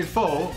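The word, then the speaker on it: phở: Apparently there's two ways you can say it. You can say pho, especially in North America, and yes. I believe in Vietnam you say pho. That's what apparently that's how they say it.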